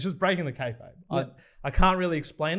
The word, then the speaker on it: kayfabe: Is that how you pronounce it? Kayfabe? Kayfabe? Yeah. I think it's kayfabe. I don't know. Yeah, Can't I remember. definitely. Yeah, we've wrestling fan in the office is kayfabe. I definitely Charlie. would have Yeah. pronounced it K-Farby. That's what I K-Farby.